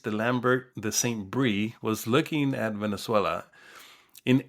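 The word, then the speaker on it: Saint-Bris: de Lambert de Saint-Brie was looking at Venezuela. In 1888, he published a book the same year as Marcou, claiming that the name came from Amaraca Pana. Saint-Brie, and Brie is spelled B-R-I-S.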